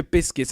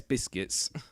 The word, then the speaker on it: Busquets: Sergio Busquets. I think that's how you say his name, though. Is it not? If it's not how you say it, then it's Busquets. But I say it as Biscuits.